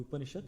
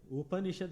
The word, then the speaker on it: Upanishad: Upanishad has got 3 one, Upa, Ni and Shad.